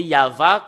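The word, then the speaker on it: יהוה: voilà le tetragramme et le fait de le lire selon la Sainte Écriture hébreu c'est yava qu'on le prononce et vous pouvez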